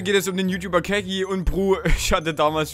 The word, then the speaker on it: Kegy: Der Fakt ist Kaki, das ist Ian Kaki. Okay, also wir wissen schon mal, ich habe ihn damals Kegi genannt, obwohl er Kegi heißt und ja, das ist schon echt dumm.